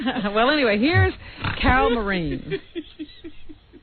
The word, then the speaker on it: Marin: Carol Marin or Marine as Rob. I saw a pronunciation guide that said it was Marin.